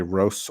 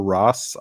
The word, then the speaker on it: Ros: Um my last name actually has no canonical pronunciation. You can say roast or Ross. I say both. I mix it up uh so that it can keep in a sort of flux state between them.